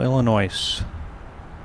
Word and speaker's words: Illinois: From Chicago, Illinois. The S is silent.